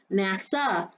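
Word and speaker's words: נָשָׁא: beguiled me is hebrew word h5377 and it's pronounced nasa and it means to lead astray i.e mentally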